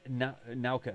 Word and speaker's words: Nauka: Do we know when Nauka? How do you pronounce it? Nauka? Nauka, yeah.